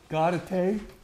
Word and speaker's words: Gaudete: What did you pronounce it, Sherry? Gaudete.